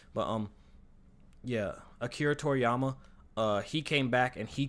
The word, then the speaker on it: Akira Toriyama: Akira Toriyama. Yeah, I wasn't sure if I was saying it right, but yeah, Akira Toriyama.